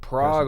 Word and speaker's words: Prague: yeah it's a big strong Polish I believe Prague Oklahoma is the checks oh yeah okay that's